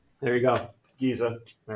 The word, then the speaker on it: Giza: a car wreck all right there you go Giza all right if anybody wants to go and